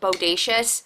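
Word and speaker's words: Bowdacious: It just came out, but it's called Bodacious, like bodacious, but it's spelled B-O-W because of the bow.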